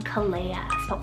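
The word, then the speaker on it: Caleya: the list here i have is the name kalea c-a-l-e-y-a now this one was actually kind of tricky to find any information on but it could be a variant of the name kalea but spelt c-a-l-e-a i feel like it probably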